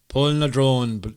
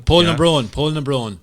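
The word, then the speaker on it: Poulnabrone: Yeah, he's been to that unpronounceable dolmen that I can never do, Pulafalucan, or whatever the thing is called, Pulabon. Polnadrone dolmen. That's the one. Polnabron dolmen.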